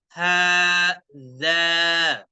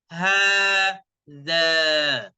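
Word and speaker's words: هذا: apa dia gitu ya perhatikan membacanya haknya panjangkan ya Haza ha-nya dipanjangkan bacanya ha kemudian dza setelah dza ada Alif alifnya Mati atau alifnya Dis suukun kita baca Haza ha dza hadza pertama kita ketahui dulu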